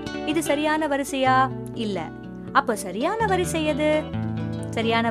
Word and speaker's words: இலை: இது தவறான உச்சரிப்பு. அடுத்து இலை.